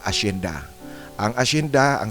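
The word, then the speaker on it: hacienda: Ang letter H naman pag sinulat mo sa salita, pag binigkas mo na ang salita, ang letter H ay umitid yan. Gaya ng asenda.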